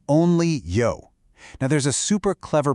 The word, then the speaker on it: 魷: The official start of the event is called Only Yo. Now, there's a super clever pun happening here. The Chinese character for squid is pronounced yo, which sounds almost exactly like the English word you.